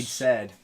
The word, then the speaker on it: Said: Said said. It's pretty much. My name is spelled S-A-I-D. Said. Yeah. So you can never say said in a text message because Right. said Said and yeah.